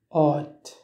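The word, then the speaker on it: áit: Exemple, pour dire le mot place, en irlandais se dit hot. Hot. Hot. Place. La combinaison des voyelles U fade I se prononce comme OU, mais c'est un OU long.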